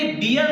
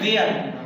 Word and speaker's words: bear: जैसे कि BEAR इसे बियर नहीं पढ़ते, इसे पढ़ते हैं वेयर। बियर ना होके वेयर पढ़ते हैं।